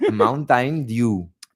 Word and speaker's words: Mountain Dew: But how do you pronounce Lo has dicho demasiado bien. Mountain. Mountain Dew.